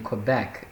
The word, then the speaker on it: Quebec: to college, but we actually live in Quebec, so the college is quite different. It's pronounced Quebec.